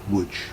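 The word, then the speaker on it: Łódź: the city whose name is written lords but pronounced wood mendel and joche ariel were the proprietors of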